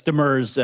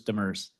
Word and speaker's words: Demers: Yes, Demers, as in his and hers, Demers.